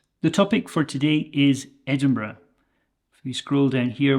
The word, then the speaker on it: Edinburgh: Scotland you might hear Edinburgh or edmur okay those are the two accepted pronunciations in Scotland people visiting Scotland might say Edinburg with a hard g at the end but I want you